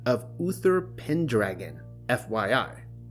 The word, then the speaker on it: Pendragon: He went by the name of Uther Pendragon, FYI. It is pronounced pen, but then you have to follow the syllables through to dragon.